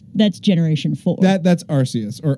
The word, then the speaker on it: Arceus: that's Arceus or Arceus technically it's Arceus because of the japanese but that's another topic for another like day or later today I don't know we might get to we can debate over pronunciation all day well in English it's either RCS or Arceus I always thought it was our say us because dick because deity Deus I don't think they